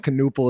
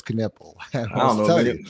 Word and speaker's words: Knueppel: this morning and you know I'm a big Kanipple guy. Uh that's how you pronounce his last name. It's just how you pronounce it. It's not Canal. It's Caniple.